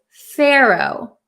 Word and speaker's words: pharaoh: in American English as Pharaoh Pharaoh so it's a little tricky the pH sounds like an F but we don't write the letter F we write pH and you have to